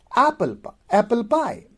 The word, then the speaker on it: apple pie: So here the stress goes on the second one. According to the rule, apple should be stressed, but people don't say apple pie. People will say apple pie with stress on the second base.